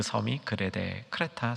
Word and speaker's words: 크레타: 돼 라는 섬이 줘 요즘 발음은 크레타 라는 섬인데 그리스에 제주도 다 이렇게 정리하시면